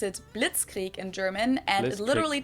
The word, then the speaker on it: Blitzkrieg: World War II but it actually happened we pronounce it Blitzkrieg in German and it literally translates to lightning